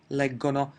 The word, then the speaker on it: leggono: everything is normal and then again in the 'loro' person the pronunciation's gonna be hard: leggono.